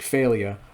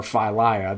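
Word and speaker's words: Fey'lya: hoping to see borsk failure or phylia depending on how you want to pronounce that last name last name I'm mispronouncing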